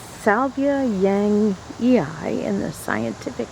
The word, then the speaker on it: yangii: this is my Russian sage pronounced Salvia Yang Yi in the scientific name it was reclassified in